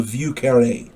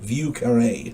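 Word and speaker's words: Vieux Carré: it's also called The V car I believe that's how it's pronounced VI e uux c a r r e and the accent is on that last e view UK carare I believe it's called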